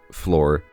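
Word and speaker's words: Flor: It's like that, but Floor is spelled F-L-O-R because this villager's name is Floor.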